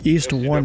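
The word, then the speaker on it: EONE: is the second way point and and that's East one is how you pronounce it it's called it's it's what again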